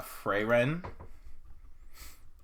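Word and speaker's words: Frieren: about um this one's called so-so no uh freyren it's spelled f-r-i-e-r-e-n and then so-so s-o-u-s-o-u and essentially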